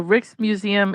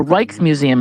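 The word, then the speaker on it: Rijksmuseum: Um the the Rick's Museum in a in Amsterdam. A Reich's Museum is actually how you would pronounce that.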